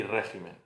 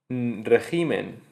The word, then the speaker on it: régimen: de specimen, carácter y régimen. La confusión en estos casos, lo que nos lleva a equivocarnos y hacer y decir especimen en vez de espécimen o decir regimen en vez de régimen o carácter en vez